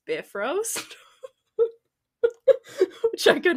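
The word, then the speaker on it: Bifröst: the bifrost or is one website told me it should be pronounced bifrost which I could not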